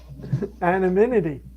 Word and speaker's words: anonymity: Anonymity.